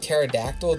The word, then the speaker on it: pterodactyl: Like pterodactyl, the P in front of it, but apparently the P the P is silent.